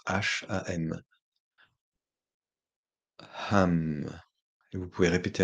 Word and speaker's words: Hum: Et vous offrez le son Hum, qui s'écrit H-U-M et qui se prononce H-A-M.